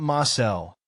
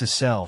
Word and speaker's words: Asel: It's not Marcel, it's Asel, she insists.